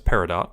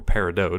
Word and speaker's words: Peridot: Additionally, the movie features Uzo Aduba as Bismuth, Amy Mann as Opal, Shelby Rabara as Peridot, or Peridot, depending on your pronunciation, Erica Luttrell as Sapphire, Charlene Yee as